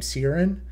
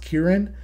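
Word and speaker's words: Ciaran: first read this book I pronounced his name Sirin and in fact the author Katie Edwards actually says it in his head as Sirin but I looked up on Google how it's pronounced and it's pronounced Kieran and because I pronounced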